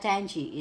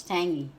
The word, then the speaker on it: tangy: a little tiny so before I pronounce it tangi and my husband said it's not tangi is tangy so guys that's for